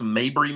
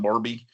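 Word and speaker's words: Mabry: That's Mabber Middle School, not Barbie. Um, in Spartber District 1. Um, uh, but anyway, that's just a small thing. Um, Oh, thank you. You're correcting uh if I mispronounce it. Thank you for the correction. Yeah. Well, it's it's MAB R Y, not M A R B Y.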